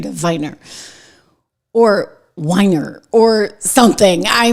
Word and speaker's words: Weiner: I'm like that's not how you say his name. It's Viner. He there's no way it's Anthony Weiner. Okay. like trust me there's no I'm not saying wier on the air like it's Anthony Viner and he's like no